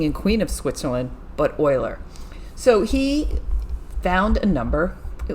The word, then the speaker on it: Euler: this gentleman over here and his name is pronounced euler not euler and if you ever watch big bang theory